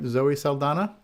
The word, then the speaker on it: Zoe Saldana: Zoe Saldana?